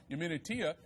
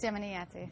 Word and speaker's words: Yemeniyati: She's a Yemeni political analyst who writes on her blog, Yemenitia. Excuse me, I pronounced that incorrectly. Yemenitia. Did I pronounce it right? How do you pronounce your blog? It's Yemeniyati.